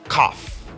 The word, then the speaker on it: cough: Mais attention à sa prononciation, on ne dira pas KF ou KF, mais plutôt CF again.